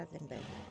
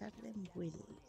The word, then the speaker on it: Ardenweald: Me pronuncian Ardenwild. Yo decía Ardenberg. Pues es Ardenwild.